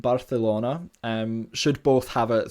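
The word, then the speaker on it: Barcelona: is a feature where C and Zeds are pronounced with the dental fricative so in other words a th sound um like thought in English as such words you might commonly kind of use like chorizo and barthelona and should both have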